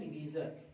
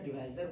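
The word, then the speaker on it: divisor: इसको बोलते हैं डिवीजर। क्या चीज? डिवीजर बोलो या डिवाइजर बोलो, कुछ लोग उच्चारण पे मत जाइए। कुछ लोग डिवाइजर बोलते हैं, कुछ लोग डिवीजर बोलते हैं।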